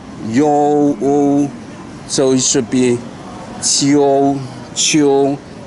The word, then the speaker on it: 秋: so it's yu, yo, so it should be qiu, qiu, u, qiu, qiu. So you listen to the professional how she pronounce it and with the music, and believe